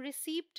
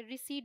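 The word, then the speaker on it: receipt: अब यहाँ पे देखिए पी टी का कॉम्बिनेशन है, यहाँ भी ये है रिसीट, हम रिसीप्ट नहीं बोलते, रिसीट बोलते हैं।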